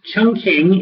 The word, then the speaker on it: Chongqing: interesting advertising Jingles um Chun King is the way to pronounce Chongqing uh in decades past um in English Chongqing